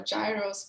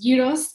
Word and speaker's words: gyros: yos for you um some people may know them as gyos or Gyros but my Greek best friend always tells me they pronounced gyos so I'm going to